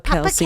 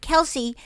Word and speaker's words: Kels: And and even Papa Kelsey Kels now. too. You know their real name is Kels. But because Oh. everybody pronounces it Kelsey, They they're just go just along like, with it. whatever you want to call us is fine.